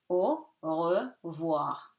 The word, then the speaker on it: au revoir: R is pronounced because it's not at the end after E. Okay, here if after E. So here it's E, French E or I in English, so it's pronounced au revoir.